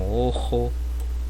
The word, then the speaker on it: ojo: Só eu trouxe essas três palavras como ojo, ônibus, obreiro, certo? Então o O a gente pronuncia de forma mais fechada, pessoal. Ojo, certo?